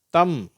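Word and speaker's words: thumb: ஸ்ட்ரைட்டா டூ அப்படின்னு வாசிக்கிறோம் இந்த எம் பி ரெண்டு எழுத்து சேர்ந்து வரும் வார்த்தைகள் இதுல எம்முக்கு அடுத்து வருகிற பி வந்து சைலெண்ட் ஆயிடும் அதாவது உச்சரிக்கப்படுவதே இல்லை கோ லேம் தம் சரியா இந்த பி உச்சரிப்பு கிடையாது அடுத்தது கீ கோ குண்டு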